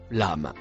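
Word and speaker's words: لم: Le mot marron se prononce lame.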